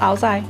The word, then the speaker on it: áo dài: Áo dài, but in northern Vietnam, your pronunciation is a bit different, isn't it? Because I'm from... Is it áo dài? Áo dài. In Hanoi also? Yes, the intonation is the same.